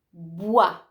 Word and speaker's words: bois: Bois, legno, ad esempio. Bois, non dite bois, dite bois.